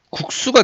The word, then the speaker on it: 국수: 그러니까 이게 발음해보면 어떻게 돼요? 국수가 됩니다. 국수. 그죠? 얘 이제 발음해보면은 국수 이렇게 발음을 해요. 그러니까 된소리로 발음이 되거든요. 그런데 표기는 된소리로 적지 말아라. 그렇죠?